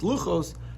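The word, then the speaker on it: לוחות: in and tell us although it's pronounced lucos you could read it as lucas meaning the tablets um tablets of let's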